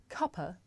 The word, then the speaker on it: cuppa: Now this is such a natural and common way to pronounce cup of that in British English the word cuppa actually means a cup of tea.